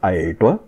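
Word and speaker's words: artwe: So A-R-T-W is pronounced Aertwa, and we'll look at the phonology later on.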